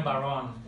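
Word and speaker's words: bodhrán: Tulisannya Bodr bacanya Baron.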